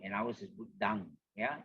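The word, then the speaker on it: Buddhaṃ: Long O, long E, all are the same, except maybe in the Buddham and ours is Buddhang. Yeah, in the Pali phonetics, it's supposed to be pronounced as D-A-N-G, Dang, Buddhang.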